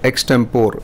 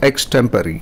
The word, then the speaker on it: extempore: It's not extempore, it is extempore. Thank you.